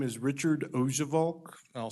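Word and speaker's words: Oujevolk: record sure thanks sir my name is Richard ojevalk I'll spell it if you want me to if it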